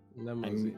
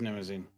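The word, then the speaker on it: Mnemosyne: That's how it's said. Nemosine. Yeah, it's such a weird. I always called it Nemosine, but I said limousine because it sounds like a Nemosine. limousine. No, but it is Nemosine.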